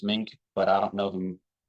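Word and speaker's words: Meink: weeks ago uh my my understanding of how the gentleman pronounces his last name is mink but I don't know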